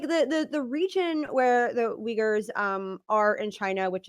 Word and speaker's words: Uyghur: huge country and the um region where the uyghur i'm sorry the how do i what's that how do you pronounce it no that was right yeah yeah